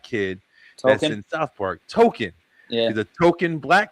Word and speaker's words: Token: years later, they shine a light on what his name is actually, because it's supposed to be more like pronounced token, like Tolkien, the guy that created the author that created Lord of the Rings.